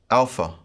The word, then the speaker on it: alpha: In the Erasmian pronunciation, this would be pronounced like the A in father, ah, ah. In the modern pronunciation, this would be pronounced like the A in away, ah, ah. Quite similar, but the modern pronunciation is a little shorter.